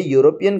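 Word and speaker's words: European: तो अगर हम गौर से देखते हैं, ई हमको वॉवेल लगता है, लेकिन जो उसका प्रोनाउंसिएशन है वो है यूरोपियन कंट्रीज़, ये ई से, ई के साउंड से शुरू नहीं होता है वर्ड, इसलिए यहाँ पे एन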